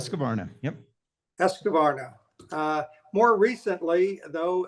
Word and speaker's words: Husqvarna: He was riding under the banner of Factory Husqvarna, if I pronounced that correctly. Husqvarna, yep.